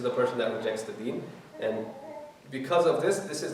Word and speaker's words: deen: Did I pronounce that right? The deen, yeah.